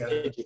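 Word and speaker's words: EDUC-8: Educate, if you know what I mean. ED. It's just pronounced Educate.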